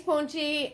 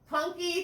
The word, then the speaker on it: Punky: Thanks, Punchy. I got your name wrong again. Punky, thank you.